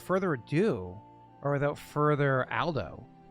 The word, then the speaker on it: Aldo: Then I guess without further ado, or without further Aldo, am I pronouncing that correctly, Aldo? You are. Yeah. So it's Al, not all.